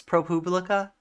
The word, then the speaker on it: ProPublica: paid for by Chris is it really pronounced propublica I I like it if it is I thought it was Republic I just always pronounced it it's propublica it's like like a Publius or something um I